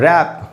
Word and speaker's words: wrap: और फिर है रैप, जब हम रैप करते किसी चीज़ को, WRAP, रैप। इन सारे वर्ड्स में W बिगिनिंग में है, W के बाद R है, इनमें W का उच्चारण नहीं होगा।